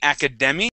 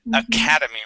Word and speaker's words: academy: Academy Academy yeah so instead of saying Academy okay it is Academy with the accent right on that a Academy okay yeah other